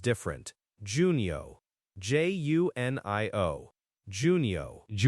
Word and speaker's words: Junio: J U N I O. Juno. Juno. Okay. The June in Spanish is like a strong two sound, right? So, hunio. And the U is like ooh in moon.